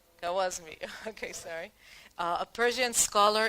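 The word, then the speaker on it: Khwarizmi: Okay, how do you pronounce? Kawazmi.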